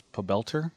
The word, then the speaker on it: Pobelter: Park some of you may know him as pelter that's how he's pronounced whenever there's a cast by Kobe pelter